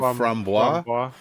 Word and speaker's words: framboise: And I've always framboise? pronounced it framboise.